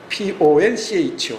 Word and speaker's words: poncho: Poncho. 그걸 이 망토 있죠, 망토. 그 원주민들이 입는 그 망토를 폰초인데 그걸 판초라고 이렇게 발음이 전화됐다 그래요.